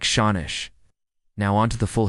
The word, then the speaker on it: sean-nós: Pronounced something like Shawnish.